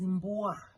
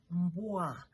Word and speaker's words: mbwa: The first example is mbwa. Mbwa. Mbwa is spelled as M-B-W-A.